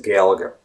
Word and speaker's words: Gaeilge: the actual Irish language, otherwise known as Gaeilge, if I'm not mistaken, that is the proper pronunciation, right?